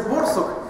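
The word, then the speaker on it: Borsuk: То есть оно действительно означает «барсук», но читается «борсук».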